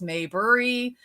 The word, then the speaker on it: Mayberry: the last name is Mayberry it's actually if if you read it may bury is actually pronounced exactly the way it is spelled but people get confused